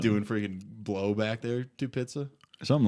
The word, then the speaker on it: Tupitza: doing freaking blow back there, Tupitza.